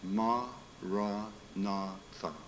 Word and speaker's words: Maranatha: spoke Aramaic it means its Maranatha four syllables ma raw Natha it means come Lord